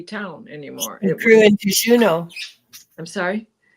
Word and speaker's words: Juneau: It grew into Juneau. I'm sorry. It grew into Juno or Juno. I don't know how you say it. Juno. Yeah, exactly.